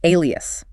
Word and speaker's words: alias: Our second word in this group is alias. Pronounced ay is ais. This is one where the spelling is maybe lightly deceptive for its sound structure.